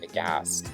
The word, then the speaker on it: aghast: I misspelled the word aghast. There is a silent H in there. There is an H in there, aghast.